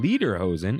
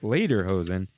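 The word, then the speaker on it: Lederhosen: have to correct you pronounced uh later hosen leader hosen and it's supposed to sound like later hosen instead of saying leather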